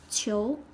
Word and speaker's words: 囚: means this prison is a prisoner so its pronunciation in Chinese is too chill prisoner chill prisoner this is file right means